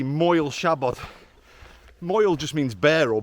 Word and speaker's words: Siabod: up the hill but yeah Shabad how to pronounce it first of all well it's spell s a b o d MO shabot Mo just means bare or bald in Welsh